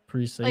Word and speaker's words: Parise: I say Parise. Parise, yeah. That's what Minnesotans say. And, he is from Minnesota.